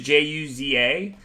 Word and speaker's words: Juza: That's actually how Martin taught me how to say his last name, the way it's pronounced in Czech. His last name is Juza. So when I first met him, he wrote on a sheet of paper YOU-ZAH.